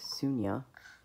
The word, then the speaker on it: Sonya: So the reason I say Sunny is because her name is Sonia, and it's pronounced Sunya, where I'm from. And so short turns out Sunny. But Sonia, that's her name.